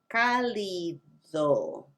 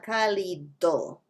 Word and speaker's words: cálido: It's not even the D sound in Spanish. It's more of a TH. Cálido, paladar, dádiva. And now that's a little tricky. You have the D sound at the beginning, and then you have that slight TH sound when you say the D syllable. Dádiva, dados. The D sound is different. It's a really, really, really soft TH. It's not th, it's just the hint of th.